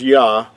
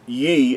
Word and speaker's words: Yah: We talked about the first two letters of the Creator's name would be pronounced as Yah and not in Ye, as sometimes you might